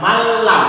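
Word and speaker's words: مَنْ لَمْ: Nunnya dimasukkan ke dalam lam, kemudian lamnya ditasdid tanpa dengungan. Malam. Jadi dibacanya malam.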